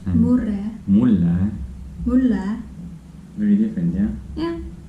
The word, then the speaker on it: mulle: When you're saying next one, murre and Murre, mulle, mulle, very different, yeah.